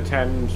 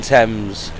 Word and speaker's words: Thames: yeah if you have the tea in Thames is silent the anagram of Thames